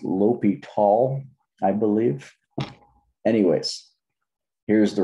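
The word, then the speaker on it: L'Hôpital: There is a limit thing called it's pronounced L'Hopital, I believe.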